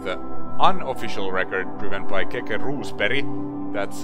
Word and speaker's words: Keke Rosberg: two seconds but the unofficial record proven by kk roose perry that's how you pronounce rules perry is one minute ten seconds straight keka did